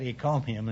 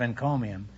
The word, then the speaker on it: encomium: right there I'm $340 you know I mispronounced it a few weeks ago in the show for some curious reason I said he called him instead of encomium and I got a